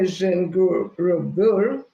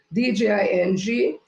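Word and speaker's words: Djinguereber: The Jengurubur, an architectural masterpiece and one of most iconic buildings in Africa. I may not have pronounced that word properly, so it's Dinguereber.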